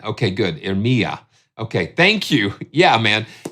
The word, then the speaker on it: Iremia: And this is laid out just like the viola, as far as Iremia. Okay, there we go. So accent on the me. Okay, good. Iremia.